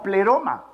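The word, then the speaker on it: πλήρωμα: probablemente sí verdad pero se va a pronunciar como pleroma las raíces pero iba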